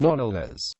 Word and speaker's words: Knollys: After her marriage, Catherine Knollys, and later Lady Knollys, pronounced NOL-les, was Chief Lady of the Bedchamber to Queen Elizabeth I, who was her first cousin.